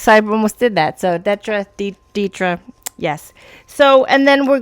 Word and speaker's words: Detra: that datra story yeah I get called Detra 98% of the time but you said it correctly datra so good for you